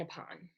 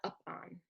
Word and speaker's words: upon: It would be the difference between up and upon. It's not up on, it's upon, right? It's a schwa.